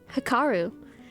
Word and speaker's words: Hikaru: Did I just say it right again? I'm learning. Hikaru. It was so easy all along. What happened? Hikaru. Like, duh, just read the word.